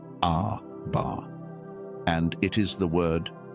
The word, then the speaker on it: Abba: You spell it A-B-A-R. You say it Abba.